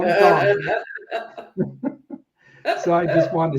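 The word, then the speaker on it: Dončić: Want to make sure and pronounce it for me to say Doncic, because I know you try to rub it in and call him Doncic.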